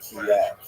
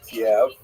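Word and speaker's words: Kyiv: In fact, the great uh Ukrainian historian Pritsak opined that Kiev as it's pronounced today in the Ukrainian pronunciation cave was actually founded by Khazars which is kind of interesting.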